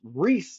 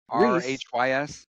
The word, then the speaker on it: Rhys: I was watching the Royals game and there's a guy it's it's pronounced Reese like re e rhys.